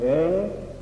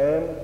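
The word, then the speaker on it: ऐं: मैंने बोला है एंग क्रींग श्रींग, आप ऐसा बोल सकते हैं एम क्रीं श्रीं, वो गलत है। म की ध्वनि नहीं होगी, ग की ध्वनि होगी।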